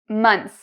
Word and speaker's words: months: So for month, months. It's pronounced like S, like a snake.